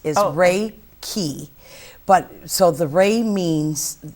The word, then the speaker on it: Reiki: So the actual wording of it is how it's actually pronounced is Reiki.